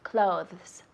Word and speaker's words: clothes: Eso es un poco difícil con la pronunciación. Decimos clothes, clothes.